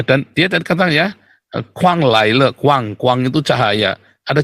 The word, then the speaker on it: Guan: Nah, kalau kuang itu bukan kuang itu pakai G ya, G-U-A-N, kuang. Kuang, tapi bacanya kuang. Bukan K, bukan guang, tapi kuang.